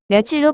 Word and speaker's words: 며칠: 몇 월이 몇 월로 발음이 되는 것처럼 몇길이 몇일로 발음이 되어야 하지만 그렇지 않고 며칠로 발음이 되기 때문에 며칠의 어원이 몇과 일이 더해진 말이라고 하기 어렵습니다.